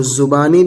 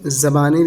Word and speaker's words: زبانی: پڑھا ہے، اس پر دونوں اعراب پڑھ سکتے ہیں، زا پر زبر بھی اور زا پر پیش بھی، تو زبانی بھی پڑھ سکتے ہیں اور زبانی بھی پڑھ سکتے ہیں، دونوں طرح اس کا تلفظ ہوتا ہے۔ زبانی لڑائی: بانکا ٹیڑھا،